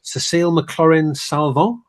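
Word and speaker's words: Cécile McLorin Salvant: Cécile McLaurin Salvant, is that how you say it?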